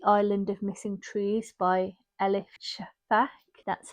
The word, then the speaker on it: Elif Shafak: So I have picked The Island of Missing Trees by Elif Shafak.